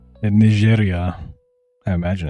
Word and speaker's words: Niger: is Chad is saying Ner and Neria. I imagine it's instead of Nigeria. I learned uh a month ago that this is actually pronounced the French way.